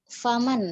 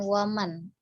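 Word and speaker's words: فمن: Kemudian faman ya, faman kanat bukan waman. Jadi menggunakan huruf fa ya, bukan huruf wa.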